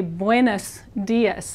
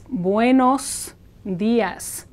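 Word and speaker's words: buenos días: this is an O Spanish o is always o and never turns into an a sound so you don't want to say buus Das as many people do it's buos Das the reason that it's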